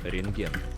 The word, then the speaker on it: рентген: Рентген. Рентген. Рентген. Рентген. So you see there's a bukva T in the middle of the word, but actually we don't have to pronounce it.